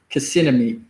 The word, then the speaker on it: Kissimmee: to Orlando, going to Kissimmee. For the longer, I ain't called it Kissimmee. I call it Kissimmee. Because spelled like Kissimmee. K-I-S-S-M-E-E-E, I think. Spelled like Kissimmee. But they say it's Kissimmee.